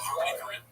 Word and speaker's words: Harmony Korine: Oh, Harmony Korine.